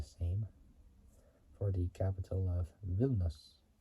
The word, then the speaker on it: Vilnius: It might be the same for the capital of Vilnius, or Vilnius, as we pronounce it.